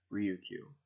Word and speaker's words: Ryukyu: characters for Lu Chu which in japanese is pronounced ryo q now read some the description from the book